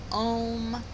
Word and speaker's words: Om: with the sound of Om. Om is actually 4 sounds. It's Ah, O, and then this last sound is silent. Ah, O, and silent.